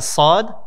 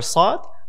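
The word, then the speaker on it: صاد: a few tries, inshallah, you'll be able to pronounce it with heaviness without having to round your lips to make it heavy. And so that is the letter Sa'd.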